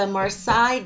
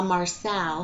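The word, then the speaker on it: Marseille: cards for you I'm using the marsai deck or La Marcel however you want to pronounce it marsai um I'm using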